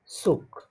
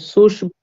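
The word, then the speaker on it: Zug: এটাকে সুস ভুল হবে ভাইয়া না না, সুস সুশ না, সুশ হবে না, ওই আপনি ওই যে সোয়ান সিশের মতো উচ্চারণ করতে চাচ্ছেন তাই তো? জি অমন অমন হবে কিনা না না, অমন হবে না, দেয়ার সুক, সুক সুকই হবে।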